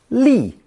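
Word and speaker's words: 俐: It's pronounced fourth tone. Li, li.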